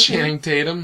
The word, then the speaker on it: Channing Tatum: So, Channing Tatum? Is that how you say it? Channing Tatum, yeah.